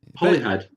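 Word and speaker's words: Holyhead: head at the tip of hly head yeah hly head as we pronounce it spel spell with one holy head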